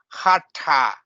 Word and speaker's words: Hatha: You hear Hatha Yoga, and it's not Hatha Yoga, it's Hatha Yoga, ta, with the tongue curling up a little bit like this. Hatha Yoga.